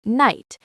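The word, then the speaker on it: knight: For example, the word night is pronounced like night, but there is a silent K at the beginning.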